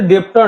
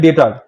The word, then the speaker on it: debtor: ঠিক আছে, এখানে ডেটার বানানটা হচ্ছে DEBTOR, শুনতে ডেপ্টর লাগে কিন্তু বিটা উজ্জ থাকে, ডেটার।